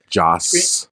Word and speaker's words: Joss: So, the original Justice League movie was directed by Zack Snyder and Josh Whedon, who was uncredited. Joss. He doesn't deserve proper pronunciation anyway.